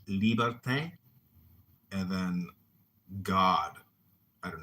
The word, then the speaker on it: liberté: Liberté is how they say it in French. Liberté.